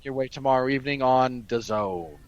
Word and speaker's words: DAZN: Which will be coming your way tomorrow evening on DAZN. Which rhymes with calzone.